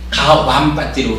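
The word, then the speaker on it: Gavampati: 요 가완 이런 게 부위에 대한 그 발음의 차이예요. 가완파티거든. 가완파티로 하는 게 맞아요. 이게 이제 이 부위를 비읍으로 읽는 사람도 있고 이음으로 읽는 사람도 있고 그런데 우리 테라와다 쪽에서는 이걸 주로 이음으로 읽어요. 그래서 가완파티로 우리는 읽어요.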